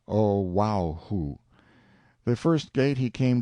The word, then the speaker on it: Oahu: him after this island Oahu pronounced oaho the first gate he